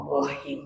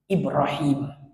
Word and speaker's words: Ibrahim: bahasa Arab tu gitu jangan kita ni Jawa Seiki Jawa Ibrahim ha Ibrahim kuat bunyi him dia tu Ibrahim tu cara baca jadi yang kedua baca